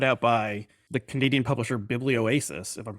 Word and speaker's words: Biblioasis: yeah, And the book is part of the Field Notes series, which is put out by the Canadian publisher Biblioasis, if I'm pronouncing that correctly.